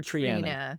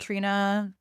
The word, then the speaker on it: Trina: And how do I pronounce it? Is it Trina or Triana? Trina.